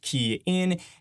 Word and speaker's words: Kian: Hey everyone, it's Kian for the Rideshare Guy, pronounced Kian.